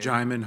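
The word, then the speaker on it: Djimon: used to call him Simon in my head because I never really uh knew like how to pronounce it but I just looked it up yeah the D is silent but he's in like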